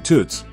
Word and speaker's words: Toots: The nickname Toots, rhymes with Newts, came from his older brother calling him Toots when they were kids.